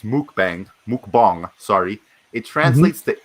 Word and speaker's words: mukbang: just uh just some information on mukbang so mukbang pronounced mukbang mukbang sorry it translates to eating broadcast in